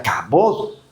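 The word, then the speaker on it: כבוד: Y la palabra gloria, hermanos, es una palabra hebrea que se pronuncia cabot.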